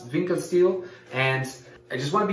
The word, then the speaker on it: Winckelsteel: how to pronounce it so I think is pronounce vincas steel and I just want